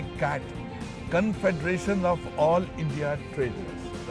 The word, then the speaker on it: CAIT: जिसका नाम है CAIT, जिसको प्रोनाउंसिएशन करेंगे कैट, confederation of all India traders, right sir?